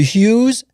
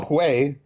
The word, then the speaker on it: Hui: It's called the Uyghurs, the Tibetans, the Hus, and other races. The Hui are Han, by the way. What? They're just the Hui, not Hu.